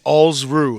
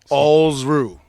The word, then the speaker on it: Alsruhe: It's Alsruhe, like balls without the B and kangaroo without the kanga. Alsruhe. Alsruhe.